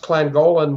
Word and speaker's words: Llangollen: It's pronounced Llangollen, Wales, North Wales.